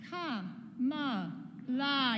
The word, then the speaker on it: Kamala: That's 3 syllables, right? I've got another word with 3 syllables. It's ka-ma-la.